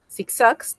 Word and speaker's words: zigzags: Zigzags tampoco lleva tilde a pesar de que es aguda. Zigzags, palabra aguda, termina en dos consonantes, no va a llevar tilde.